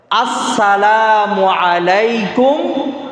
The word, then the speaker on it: আসসালামু আলাইকুম: যদি লাম না বলে মাঝখান দিয়ে, শুধু সাম বলে, সাম মানে হচ্ছে মৃত্যু।